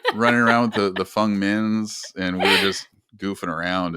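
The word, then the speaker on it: Feng Min: I ran into um I'm getting used to saying fungmen that's how you pronounce her name fungmin um I ran into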